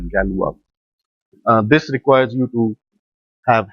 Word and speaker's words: Galois: They write it as Galois, pronounces as Galois.